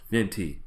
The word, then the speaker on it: VINT_E: On Instagram and Twitter, I am VINT_E, pronounced Vinty.